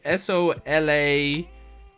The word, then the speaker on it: Sola-Ui: I believe it's spelled SOLA-UI. But hang on. Yep, I just checked the subtitles. So yeah, it's spelled SOLA-UI. But they pronounce it Solau, I think.